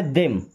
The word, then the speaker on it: them: THEM, इसे पढ़ते देम। थेम नहीं, देम।